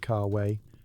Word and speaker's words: cave: Before flinging anything out the window, you're supposed to yell cave pronounced carway to warn pedestrians that something unholy is coming from above.